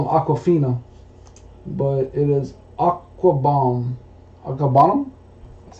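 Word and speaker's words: Okwuegbunam: Albert, I call him Aquafina, but it is Aquabomb.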